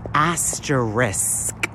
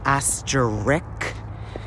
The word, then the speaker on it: asterisk: I like the word asterisk. I always pronounced it asterisk, but the letters are actually A-S-T-E-R-I-S-K, baby. Asterisk.